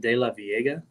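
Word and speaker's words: DeLaveaga: They pronounce it De La Viega. De La Viega. Okay. Yeah, I think it's a Spanish word, which would be De La Viega, but I don't know. De La Viega is what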